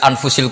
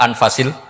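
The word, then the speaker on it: أنفس: saja di sini ditulis anfusil kutubalu saya baca anfasil kutub karena maknanya kitab ter baik Kalau kitab terbaik bacanya bukan anfus tapi apa anfas ya nanti kamu debat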